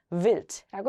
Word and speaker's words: Wild: D가 맨 뒤로 왔으니까 우리 T로 바꿔줘야 되겠죠? Wild라고 읽고요.